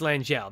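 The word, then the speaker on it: L'Angelle: It's basically Madame L apostrophe Angel, I think. Oh, L'Angel. Yeah, yeah, L'Angel. That's it. Right. That's it. It's L'Angel. That's their family name. Because his name is, L'Angel.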